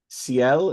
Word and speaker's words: Ciel: The journey of is it Ciel? Am I saying it right? Yeah, Ciel yeah.